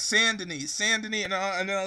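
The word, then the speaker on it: Saint-Denis: It's not pronounced Saint Deni. It's pronounced sanden like sand like sa n.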